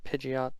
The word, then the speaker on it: Pidgeotite: Since this set is exclusively Mega, I'm gonna go ahead and give him a Pidgeotite. That's how you pronounce it.